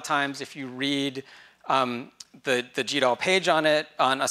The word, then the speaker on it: GDAL: And it is, in fact, pronounced GDAL, not GDAL.